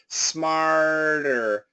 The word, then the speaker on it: smarter: Smarter. Smarter. That's an R and there's no touching. And here it's a flap T.